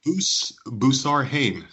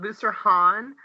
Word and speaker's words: Boussarhane: Is it Boo Bus Hay? Yes. Yeah. Yeah. Exactly. That sounds wonderful. Um, my husband pronounces it Booster Han, but because I'm southern and it was really weird to try to learn how to say it and spell it, I just call it Booster because that's how I learned to spell it.